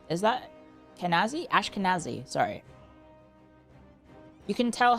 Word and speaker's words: Ashkenazi: Ashkazani. Is that Kenazi? Ashkenazi.